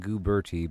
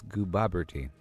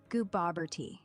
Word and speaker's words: Goobober: Well, you're saying Gooertie, but it's Gooaberti. Uh, goober tea.